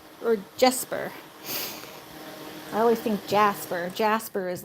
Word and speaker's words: Jesper: Daughters called him Jesper. Jespar or Jesper? I always think Jasper. Jasper is like the more common pronunciation of that kind of stuff up here, but it looks like it's spelled slightly different.